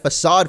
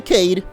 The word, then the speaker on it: facade: and yeah we're gonna get facade from him not the Cade even though that's how I used to pronounce it as a kid or it's a spunky